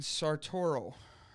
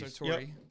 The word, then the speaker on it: Sartori: Master Gallery Foods, Great Lakes Cheese, and Sartoro. I don't know if I said that wrong. Those are all cheese plants. Sartori cheese. Sartori.